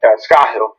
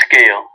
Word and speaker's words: Scahill: I probably pronounced your name wrong. Scahill. It's Scale. Scale, thank you.